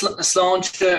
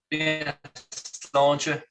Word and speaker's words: Sláinte: So is that the correct pronunciation, Sláinte? Yeah, that's Sláinte, or Sláinte is how you'd say it.